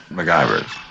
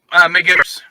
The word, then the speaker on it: McGivers: MacGyver's. MacGyver's. Thank you. McGivers.